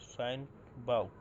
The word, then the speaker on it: SyncVault: তো তার জন্য এখানে আপনারা সার্চ করবেন সাইনিক বোল্ট, বাল্ট জন্য বাল্ট, SYN এমনি উচ্চারণ করবেন, SYNCBAULT, সাইন বাল্ট।